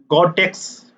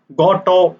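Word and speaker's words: Gateaux: derivative that is called Gotex derivative. Goto, people are telling, or Gotex. If you see the name, then that looks like Gotex, but Goto, people are actually pronouncing that.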